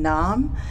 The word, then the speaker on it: Narrm: going to learn and but for me the pronunciation has always been numb and it's always been spelt panmei as you'll